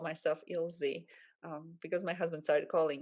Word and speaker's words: Ilze: being pronounced like that plus i really don't like my name being pronounced as ilsa with an ending ah i just hate it